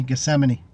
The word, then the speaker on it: Gethsemane: The TH is silent, Tony. Gethsemane.